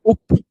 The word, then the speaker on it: up: Ahí está esa U que no suena up, como en español. No es U, es a. Get up.